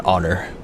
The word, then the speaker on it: honor: Also, I feel like it's even though it's technically a honor, it's an honor because the H is silent. So, you do the O sound.